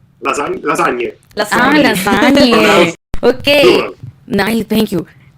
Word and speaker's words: lasagne: Definitely help us with the pronunciation in Italian, sorry. Pizza margherita? Tiramisu. Margherita. You see, margherita. Very good. Okay. And lasagna? Lasagne.